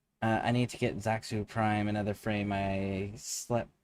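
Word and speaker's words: Xaku: Uh I need to get Zaku Prime. Another frame I slept I sleep on that I like. Definitely ultimate gun frame. Uh, I just the name again. Zaku. That's it. Zaku.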